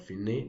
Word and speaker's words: fine: Al, it means to the, con means with, fine, well, it has the same spelling with fine in English language, but fine, that's the pronunciation, it means the end.